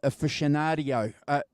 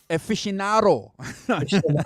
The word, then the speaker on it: aficionado: years back John guitar aficionadio did I pronounce that right Aficionado Aficionado okay um but but but